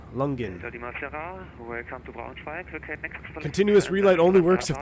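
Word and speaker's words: Langen: You can pronounce it Lungen radar. Lungen.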